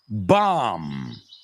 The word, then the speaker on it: bomb: So, climb, thumb, dumb, numb, bomb, tomb. What do all these words have in common? The B's are completely silent at the end.